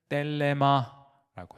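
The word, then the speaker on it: θέλημα: 그래서 제가 거기 사람의 정욕이라고 하는데도 그리스로를 적어놓 놨는데 에피디미아라고 읽어요. 에피띠미아인데 그것은 정욕이라고 번역합니다. 그리고 하나님의 뜻이라고 쓰세요. 하나님의 뜻은 뗄레마라고 해요.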